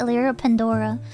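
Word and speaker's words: Elira Pendora: say this poem but you actually been pronouncing my name wrong it's actually pronounced elira pandora oh my bad sorry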